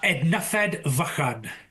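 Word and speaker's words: Ednyfed Fychan: How is how should it be pronounced correctly? Uh, Ednafed Vakad.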